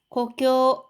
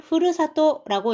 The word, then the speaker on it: 故郷: 산타크로스 핀란데 도나이가 자 산타클로스 산타클로스의 고교 요거는 고향입니다. 같은 한자를 써서 요거를 흐르사또라고 읽어도 됩니다. 뜻은 똑같고요.